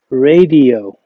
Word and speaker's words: radio: The next word is لا مش راديو radio radio radio okay very good.